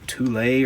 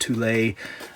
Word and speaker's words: Thule: to like norway called toule or thule i don't it's it's spelled t-h-u-l-e i've heard it pronounced tulay but it looks like phonetically it would be called fool i'm not sure it